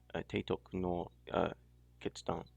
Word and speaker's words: Teitoku no Ketsudan: I mean, let me just say in Japanese, Romaji. Teitoku no Ketsudan. Keitoku no Tetsudan. I probably sound even a tad foreign there, but that's more how it's pronounced.